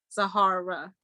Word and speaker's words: Sahara: So now, since you spoke last, Sahara, I say your name wrong. I'm sorry. It's a hard A. Sahara.